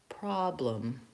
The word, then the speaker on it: problem: Another example of an ah, the word problem. This is a word I hear mispronounced very frequently, problem, because people think O and they make rounding on that word. They may say problem, problem, with too much rounding. You want a nice open ah vowel, problem.